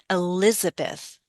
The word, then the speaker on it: Elizabeth: But stress on bum bum on the second. Elizabeth.